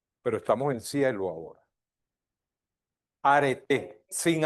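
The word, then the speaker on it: Arete: Aret sin H. ¿Cómo se pronuncia?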